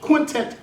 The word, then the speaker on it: Quintant: No, Quintant.